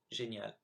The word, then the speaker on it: génial: So here are the 8 words I mispronounced. So I should have said the second time traverser, dans, tout, Afrique, chameau, serait, génial, nul.